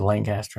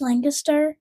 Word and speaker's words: Lancaster: guys live in California now, but he pronounced it Lancaster.